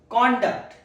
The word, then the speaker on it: conduct: His conduct at the meeting was professional. Pronunciation two conduct. There is a stress on the second syllable.